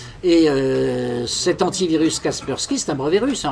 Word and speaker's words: Kaspersky: d'office qui s'appelle Kaspersky, puisqu'on le prononce à l'anglaise, on va Kaspersky. Et cet antivirus Kaspersky, c'est un brevet russe, en réalité c'est une entreprise totalement russe.